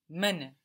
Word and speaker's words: Männer: Männer. Die Männer. Good. You added those two dots on the A and you got die Männer, which of course sounds much more like men. No?